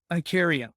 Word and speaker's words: Ikaria: a carry i can never pronounce is it i carry or carry it how do i pronounce it i carry i carry a coffee yes so the number